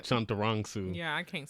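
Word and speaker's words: Chantarangsu: know tim delegato or tim chanteronsu that's how you pronounce it chunturongsu yeah i can't say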